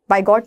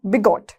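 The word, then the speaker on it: bigot: आगे बिगॉट, बिगॉट, बाय गॉट नहीं, बिगॉट, बी है, बिगॉट, क्या, बिगॉट ठीक है।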